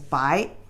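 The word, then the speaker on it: 白: The pronunciation is bai.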